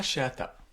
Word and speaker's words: Chehata: Salut, je suis Julien Cheatta Foubert et je vous souhaite la bienvenue au balado. Ça arrive juste un voyage. Cheatta, c'est bien ça. C'est bien ça. Est-ce que je le prononce bien ?